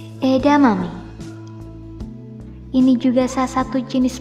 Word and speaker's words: edamame: Edamame. Ini juga salah satu jenis makanan yang tentunya kerap kamu jumpai. Edamame ini benarnya disebut edamame. Jangan lupa pakai H.